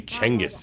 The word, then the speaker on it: Genghis: It is actually Genghis. Genghis Khan. It's actually Chenghis, if you want to say it the proper way.